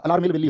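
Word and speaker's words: Alarmel Valli: अरला मेल वेली याद कर लिया आपने, अरला मेल वेली बोलता हूं मैं इसको, दरअसल में वो अरला मेल वेली नहीं होता, अलार मेल वेली होता है।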